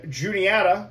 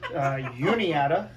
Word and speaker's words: Juniata: Hartwick and Juniata, or as you tried to pronounce it, Uniata, because we threw some Spanish in there, which was cool.